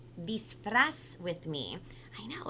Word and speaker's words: disfraz: La palabra de hoy es disfraz. That's right. That's how you say it in Espanol. So everybody on the count of 3, I want everybody to say disfraz with me.